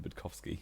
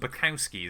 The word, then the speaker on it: Budkowski: I think you butchered both names there. Did I? Yeah. It's Loudon and Budkowski, isn't it? Like Graham Loudon, and that's definitely how you say that.